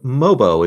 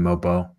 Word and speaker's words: Mobo: let's come to to mobo is is that how we're gonna say that I was pronouncing in Mobile well okay a few pronouncing mobile I would appreciate like Lobo but with an M on now I want